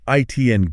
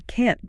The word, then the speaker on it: can't: The negative is super important information, so we make it long and strong. We stretch the vowel sound. So it's not ITN go. No, it's I can't go. And you have that sharp T at the end.